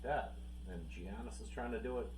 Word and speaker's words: Giannis: why you guys are calling him gianis instead of Giannis yeah because he is now Americanized so we pronounced the g g you you picked